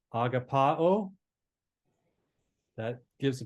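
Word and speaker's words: ἀγαπάω: click on that all right agapao that gives a pronunciation Strong's G25 agapa oh okay it's a verb uh it's kind of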